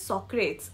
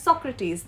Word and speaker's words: Socrates: you would know that the E is always stressed okay mostly not always